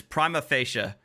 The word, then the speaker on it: prima facie: property i i always i always mispronounce it but it's prima facie uh is the latin